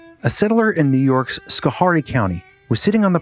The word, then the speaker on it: Schoharie: Pretty sure it's not Schoharie. New York, Schoharie County, Schoharie. I'm sorry, New Yorkers. I don't live there. Robot lady? It's fun to hear you get it wrong, though. Chris, it's pronounced Schoharie County.